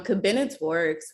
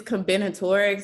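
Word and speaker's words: combinatorics: And then I think I took um Cabinotaurics was I don't even know if I'm pronouncing that correctly, but I don't even know what you say. Say it again. It's cominatorics.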